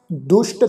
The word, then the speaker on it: दुष्ट: महाराज जी कह रहे हैं जी भगौती भगवंत भगत का रंग सगल त्यागै दुष्ट का संग। ये जिहड़ा शब्द है जी दुष्ट, सस्से पैर बिंदी लगा के उच्चारण करांगे दुष्ट। सगल त्यागै दुष्ट का संग।